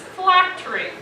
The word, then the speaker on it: phylactery: Miss Park, the word is phylactery. Phylactery. Am I pronouncing that correctly?